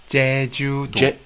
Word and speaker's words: Jeju-do: So Jun, you live here in Jeju. Is that the way? I've been a little bit curious how to pronounce the name of the island. Jeju? Jeju-do.